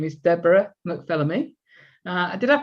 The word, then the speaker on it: McPhilemy: Her name is Deborah McPhilemy. Did I pronounce that correctly?